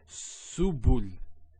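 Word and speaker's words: سبل: So to pronounce this has a S sound. So su, bu, and this is the lam, like the letter L. So subul, subul.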